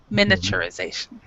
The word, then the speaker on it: miniaturization: uh miniaturization miniaturization you you said you said it almost right miniature so basically in this respect you say Mina Mina miniaturisation miniaturization and uh spee recognition